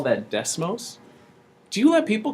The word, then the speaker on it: Des Moines: city of Des Moines and we call that decimals do you let people call our capital des - no that's the moment will forever call that des moment we do not pronounce our essence here in